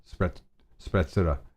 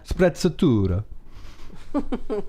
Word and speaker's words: sprezzatura: channel just about hair, and that wouldn't be spreadstura. Whatever. Dude, I'm gonna butcher it. Spreadstura. It's an Italian word, right? I think so. Sprezzatura.